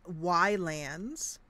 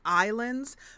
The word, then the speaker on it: Ylands: And I'm calling it Ylands. However, I think it is maybe supposed to be pronounced Islands, but it's Y, the letter Y, with the word lands in front of it, which is what you